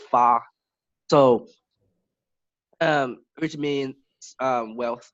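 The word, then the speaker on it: 发: of similar word to this word we call fa.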